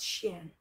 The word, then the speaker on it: SHEIN: for the first time i ordered stuff at sheen that's how you pronounce it yeah i ordered some stuff and